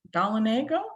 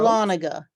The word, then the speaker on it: Dahlonega: Mary from, I'm not going to pronounce that right. Dalinago? No, that can't be right. Freya from Atlanta. Hey, Beth and John from Darien down in the coast. Dahlonega. Dahlonega, thank you.